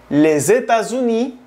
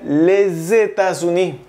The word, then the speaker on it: les États-Unis: Y les colocas la preposición le, se escribe les, se pronuncia le. Por ejemplo, les États-Unis, aquí tienes que pegar la S con la E, porque te dije que se pronuncia le, pero tienes que pegar las palabras. En la lengua francesa se tiende a eso. Entonces, si esto todo empieza por vocal, se pronuncia les États-Unis. Recuerden la liaison.